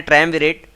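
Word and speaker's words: triumvirate: इसका जो शुद्ध प्रोनंसिएशन है ट्रमवेरेट और मैं एक्चुअली इसको जब रटता था तो स्पेलिंग भी याद करनी होती तो त्रिमोविरेट करके रटता था।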